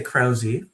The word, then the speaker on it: Krause: Uh, we typically say Krowy. Krowy. Very good. So actually the E is not silent in in this particular case.